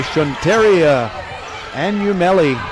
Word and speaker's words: Shunteria Anumeli: And by the way, if you're in her family and saying that's not how you pronounce the name, that's what she told me to say. Just minutes before the game.